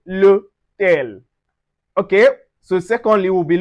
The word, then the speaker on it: l'hôtel: So we pronounce it together with a contraction. We say l'hôtel.